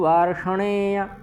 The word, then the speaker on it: वार्ष्णेय: स्त्रीषु दुष्टासु वार्ष्णेय। ठीक, वार्ष्णेय में कोई विसर्ग नहीं है, या का पूर्ण उच्चारण करना है।